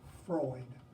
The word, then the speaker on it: Freud: man named Sigmund Freud his last name is pronounced Freud and Freud he is not a philosopher he is would